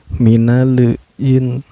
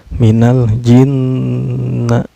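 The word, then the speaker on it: مِنَ الْجِنَّةِ: Cara bacanya, lam sukunnya dibaca secara jelas ya, nggak boleh memantul. Minal nggak boleh, minalin nggak boleh ya, nggak boleh memantul, tapi harus jelas bacanya. Minal jinna.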